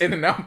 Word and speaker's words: In-N-Out: I pronounced the T just to make sure.